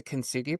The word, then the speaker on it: Kintsugi: So I know we had talked before about this, forgive me if I'm pronouncing it wrong. It's the Kintsugi principle.